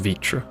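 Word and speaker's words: Vritra: that name is pronounced vitra by the way but you know whatever don't question it vr apparently makes a vi sound today we've learned review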